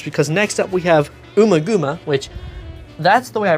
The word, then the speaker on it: Ummagumma: But 1968 and 1969, not great years for Pink Floyd albums, because next up we have Ummagumma, which, that's the way I pronounce it, Ummagumma, it's Ummagumma.